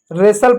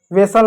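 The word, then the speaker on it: wrestle: हम इसको रेसल पढ़ते हैं। वेसल नहीं पढ़ते हैं।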